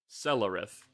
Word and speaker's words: Celerith: How do you pronounce that name? Celerith.